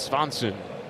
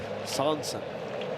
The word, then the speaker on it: Swanson: I thought that the V was silent. Swanson. It's not silent? No. It's not. Very much pronounced.